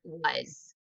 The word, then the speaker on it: was: We know that S can represent two sounds, the S or the Z sound. The only part that's irregular is the middle vowel. We would think, and kids will typically spell it with a U because it does sound like the short U. Uz.